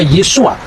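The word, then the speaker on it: Yeshua: Yesus ketika dia orang Yahudi dia pasti membaca yesua yang percaya bahwa Yesus itu Mesias pasti membacanya yesua hamasiah nah yesua ha masiah itu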